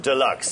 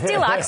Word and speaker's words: Dealuxe: weeks and it is an e-commerce website you pronounce it deluxe it's deluxe but there's a little play on the spelling